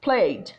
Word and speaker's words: played: It's pronounced with the sound of D, like played, played, played.